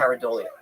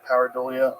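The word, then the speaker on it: pareidolia: Paridolia. Paridolia.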